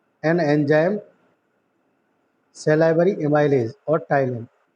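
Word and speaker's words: ptyalin: टाइलिन में P silent है, PTYLINE।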